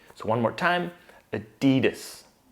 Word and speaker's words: Adidas: All together, Adidas. Adidas. I'm sure you've noticed that the primary stress is on the D. So one more time, Adidas. Adidas.